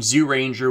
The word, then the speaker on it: Zyuranger: have critiques as for why I'm pronouncing the zoo in zoo Ranger with the z sound as opposed to the J should be spelled pronounced